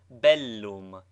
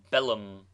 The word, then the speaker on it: bellum: b t like PT doubled consonants should both be sounded contrary to the custom of English thus bell loom is pronounced distinctly bell loom not bellum nine exercise pronounce the